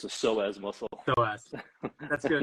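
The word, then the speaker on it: psoas: say it wrong again the p is silent it's not like the pee and pineapple it's a soaz muscle so ask that's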